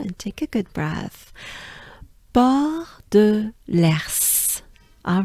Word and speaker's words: Port de l'Ers: I know it's tricky when there's a R to pronounce other consonants, but S, right? But at least this one is helpful because it starts with E, so it's Ers, and it's l'Ers, right? So as a whole, it sounds like this.